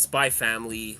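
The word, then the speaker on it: Spy x Family: SP family yeah like it's spy family like the x is silent like in Hunter Hunter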